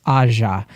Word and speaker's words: Aja: to correct myself again I said aha again because it's like what I default to it's Aja it's because I bring Spanish into it I'm sorry that's okay